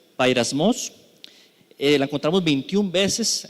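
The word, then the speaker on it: πειρασμός: Y es que tentaciones es la palabra G3986 que se pronuncia bairasmos.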